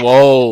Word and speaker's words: Swole: Is that how you pronounce it? Or is Big it Swole? Swole.